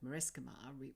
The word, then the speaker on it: Marescimar: MA for magic and mathematics, RE for respect and religion, and SC for science, although in the word Marescimar we pronounce the SC like the S and K in Sky's name.